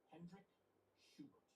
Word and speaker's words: Hendrik Schubert: With this ecology professor named Hendrik Schubert. Did I pronounce that right?